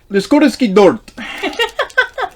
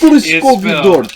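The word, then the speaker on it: lískooříškový dort: Liskoriski dort. It's Liskoriskovi dort.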